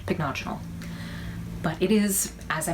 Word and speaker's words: Pycnogenol: None of them were exactly the same, but in all of them, the second syllable was what they were accenting. So I think I'm pronouncing it right, Pycnogenol.